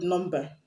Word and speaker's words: number: let's consider the white number number like one two three number the white number has m and b coming together in it but m and b is not the end of the root because the word norm